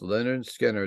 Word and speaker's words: Lynyrd Skynyrd: second album we're going to discuss tonight is pronounced Leonard Skinner the debut album by Jacksonville Florida's Leonard Skynyrd